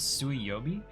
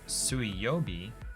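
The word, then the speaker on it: 水曜日: me understand something because the word for Wednesday is sui yobi um and it's written with the kanji for water which is normally pronounced Mizu um so sui yobi is water day but it's the on reading instead of the reading which this is an entirely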